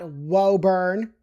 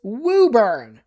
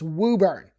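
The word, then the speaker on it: Woburn: It is not Wurn right there off a 128 sitting there in traffic hell. It's Wooburn. So the O is kind of like another U. I don't understand it either, but that's how it's said.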